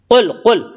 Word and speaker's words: قل: اس سے پہلے قل بڑا قاف ہے، قل. اس کو بہت سے لوگ کل پڑھتے، کل اعوذ، یا بہت سے گل پڑھتے.